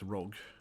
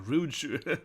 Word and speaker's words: Rouge: Rogue. Or Rouge. Yeah, Rouge. Rouge. Yeah, that's true. Her name isn't Rogue. It's spelled, yes, Rouge. Yeah, like Moulin Rouge.